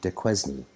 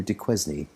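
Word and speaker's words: Duquesne: mathers's at one avenue de quezny as some if you want to pronounce it like an english speaker one avenue de quezny though yates planned to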